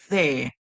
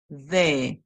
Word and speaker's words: there: So the one where the ER makes the sound air, that's the one that we're going to use. So we're going to be tongue between our teeth, and then we hear air. So we hear air, there, there, there, there.